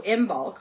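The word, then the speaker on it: Imbolc: Um, oh, yeah, because she was saying, okay, so I imbulk, pronounced m i m bulk, b o l k, but it's spelled I M B O L C. Ibulk.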